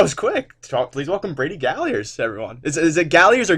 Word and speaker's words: Galliers: Please welcome Brady Galliers, everyone. Is it Galliers or Galliers? Galliers.